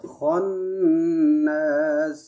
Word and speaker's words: الخناس: بسم الله الرحمن الرحيم قل أعوذ برب الناس ملك الناس إله الناس من شر الوسواس الخناس কান্নাস না, এটা খ হবে, খন্নাস।